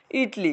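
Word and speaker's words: Italy: যদি যাও ঠিক আছে ইতালির ইংরেজি কি বলতো ইটলি কেমন ইটলি ইটলি ইটলি ইটলি মানে এটারে ইতালি লেখে ইতালি এটাকে উচ্চারণ করে ইটলি যেমন রাশিয়া এটা এটাকে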